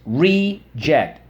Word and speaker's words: reject: okay let's go read it's reject reject on the first syllable so let's go first syllable re and I can hear